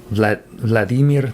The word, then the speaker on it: Vladimir: read The Eye by Vladimir Nabokov, or as I learned from some Russian-speaking friends, Vladimir Nabokov. You emphasize often in Russian, I guess you emphasize the second syllable or something.